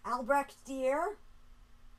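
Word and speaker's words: Albrecht Dürer: Albrecht Dier? Yeah. Do you want to say it properly? You gotta make it sound like a Frenchy sound.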